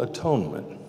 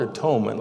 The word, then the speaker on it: atonement: atonement now the word atonement let me just break it down three syllables you know you could say at one meant if we change